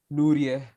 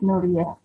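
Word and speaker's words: Nourieh: How do you pronounce your name, dear? And pronounce N-O-U-R-I-E-H. Is correct? Nuria. Yes, Nuria.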